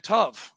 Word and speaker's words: tov: I can only say shalom and tov, which means good.